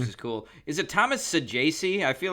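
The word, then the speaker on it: Saggese: Is it Thomas Saji? I feel like we've talked about this before. Yeah, it is. I believe that is I I believe that's the uh the the official announce pron pronunciation. Saji.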